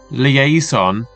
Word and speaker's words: liaison: Our penultimate term this week is academic liaison librarian. So let's take a deeper look in how to pronounce this.